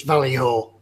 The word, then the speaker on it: Vallejo: Scale model vamp said it's Vallejo.